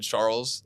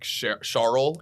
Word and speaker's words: Charles: He said Charles, like Charles, I think is how he pronounced it, and someone actually zoomed in on his little cheat sheet, and he spelled it SHAR-EL, which I get it.